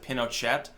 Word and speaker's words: Pinochet: I know, by the way, people also pronounce it Pinochet. It's funny because there's actually no agreement on how exactly his name is supposed to be pronounced.